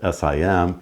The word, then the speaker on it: SIEM: talking about Sim Solutions Sim is pronounced Sim but it's actually spelled s-i-e-m and it stands for